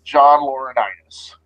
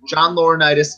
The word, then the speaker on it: John Laurinaitis: at one time and everybody's favorite corporate Sokka John Laurinaitis no he didn't say it right John Laurinaitis executive vice president of talent relations and in